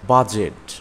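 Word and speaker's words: budget: ক্যাজ অর্থ ভিক্ষা করা নলেজ নলেজ অর্থ জ্ঞান বাজেট বাজেট অর্থ বাজেট রিজ রিজ অর্থ পাহাড়ের কিনারা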